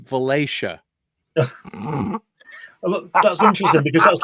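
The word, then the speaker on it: Valatie: a l a t i e looks like valai right it's pronounced valaya that's interesting because that's like great town I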